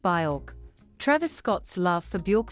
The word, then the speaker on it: Björk: Despite him butchering the pronunciation of her name, which is pronounced Björk, Travis Scott's love for Björk fueled speculation surrounding his eagerly anticipated fourth album.